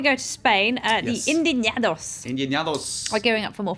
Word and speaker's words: Indignados: Indignados. You've got to get the guttural Spanish sound.